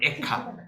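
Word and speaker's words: איכה: 어떻게 이런 일이 일어났을까 애가는 에카입니다 정확한 발음은 에카 에카는 뭐냐면 어찌 이런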